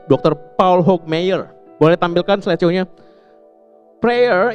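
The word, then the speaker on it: Hokemeyer: Paul Hcky Mayer gimana dibacanya? Dr. Paul Hawk Mayer.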